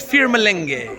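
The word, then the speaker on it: फिर मिलेंगे: And how you say it in Hindi is Fir Malenge.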